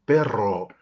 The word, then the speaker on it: perro: porque llega acá y me dice vi un pero en la calle un perro un perro un perro y ahí y ahí